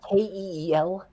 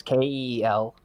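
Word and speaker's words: Kiel: what they're talking about when i googled how to pronounce kl um with vi the google pronunciation was kel so okay yeah okay city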